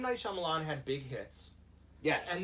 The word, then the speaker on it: Shyamalan: Night Shyamalan. Is that pronounced right?